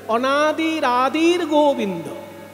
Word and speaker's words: অনাদির আদির গোবিন্দ: তাই উচ্চারণ করতে হবে অনাদির আদির গোবিন্দ।